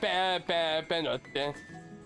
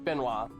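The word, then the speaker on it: Benoît: Yes, that is how you say it's Benoit. It's not Benoit. It's Benoit.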